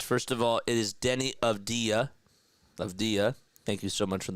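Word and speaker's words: Avdija: First of all, it is Denny of Dia. Thank you so much for the pronunciation correction.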